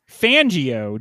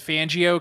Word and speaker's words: Fangio: Because Fangio kind of rhymes with banjo, which is an American